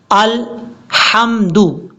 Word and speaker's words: الحمد: الحمدللہ۔ کتنی بڑی مسٹیک ہے، لام کے بعد آپ کو ہا نظر آ رہا ہوگا، یہ بریک ہا ہے، اس کو حمد نہیں پڑھنا۔ اس کا پڑھنے کا طریقہ کیا ہے؟ الحمد، الحمد، اس طریقے سے، للہ۔ اب یہاں پر